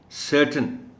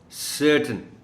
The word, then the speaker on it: certain: ख़ास ये है कि स्ट्रेस जो प्राइमरी है वो सी पर है. दूसरा, ये जो TAIN वाला पार्ट है इस वर्ड का, इसको प्रोनाउंस करना है T और N को मिला के. आप यूँ समझें कि TAIN में A और I नहीं है. So please listen to me when I pronounce the word. The word is certain, certain.